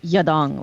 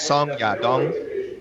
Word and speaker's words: Song Yadong: but I'm pretty sure it's not Yadong, like one word. I believe I'm ashamed to say my pronunciation of Chinese names isn't great, but I believe his translator said it's Song Yadong. Yeah. Something to that effect. Correct. Song Yadong, like Song that. Yadong.